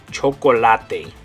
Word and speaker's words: chocolate: Spanish it's never silent in Spanish anytime there's an e it always makes the same sound it's going to be an a sound okay it's going to make the sound a so in English we